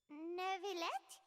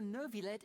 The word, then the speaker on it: Neuvillette: Wait, Nervilette? Nouvelette? Nouvelette? I Nouvelette. saw you all chatting just now, but it seems you still don't know who Monsieur Neuvillette is.